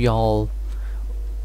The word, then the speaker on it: Jarl: So talk to Jarl of White One. They pronounce their J's with a Y, like a Y.